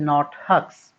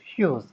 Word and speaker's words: Hughes: The pronunciation is, please be careful, this is not Hughes. This is Hughes. H-U-G-H-S, Hughes.